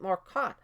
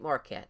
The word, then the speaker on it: Marquardt: in these answers Nate Marquardt is a great fighter as I've been saying Nate Marquette I don't know why in my head I was thinking that's how they pronounced it but I was watching